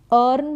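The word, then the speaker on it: earn: तैयारी करना प्रिपेयर करना अर्न मतलब कमाना अ ई ए का उच्चारण अ अर्न इंप्रूव सुधारना कोई भी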